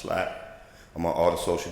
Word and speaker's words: SILAP: The acronym is spelled SILAP, but it's pronounced SLAP.